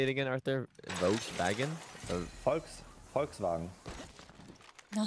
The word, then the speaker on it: Volkswagen: say it again Arthur Volkswagen folks FKS no say my so my CH say again you say on or like what Volkswagen like you pronounced the V like an F sometimes this is crazy